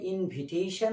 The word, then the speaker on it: invitation: অর্থাৎ ইনভাইট এর মতো এক্সাইট শব্দটাও ভার্বে যখন থাকে তখন এক্সাইট, এক্সাইটস, এক্সাইটেড, এক্সাইটিং, ঠিক আছে, আই উচ্চারণ হবে। কিন্তু যখন নাউনে যায় ইনভাইট শব্দটা যেমনিভাবে ইনভিটেশন হচ্ছে, এক্সাইট শব্দটা এক্সিটেশন হবে না, এটা এখানেও আই উচ্চারণ নিয়ে এক্সাইটেশন হবে।